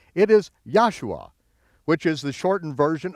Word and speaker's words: Joshua: So, anytime you see the letter J in your King James version of the Bible, pronounce it as a Y and you'll be very close.